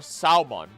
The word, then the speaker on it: salmon: pressed spelled Salon or salmon the L was added to make the word closer to it's Latin rot the L is silent and the word is pronounced salmon and there we go